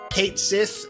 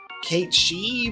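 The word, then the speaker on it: Cait Sith: Kate Sith, as he is now officially going to be pronounced in English, because we've had this debate for so long of Kate She, because that's how it's said in Gaelic, but, you know.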